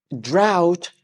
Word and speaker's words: drought: a nap after this drought rhymes with shout drought rhymes with shout